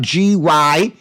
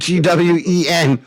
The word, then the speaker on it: Gwynn: No, it's not Tony Gwynn, and it's spelled Gwynn. Gwynn. Not Gwen.